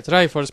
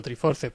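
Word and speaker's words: Triforce: trife pero sé que se supone que se pronuncia try force pero llevo toda la vida llamándolo three four se porque cuando aprendimos en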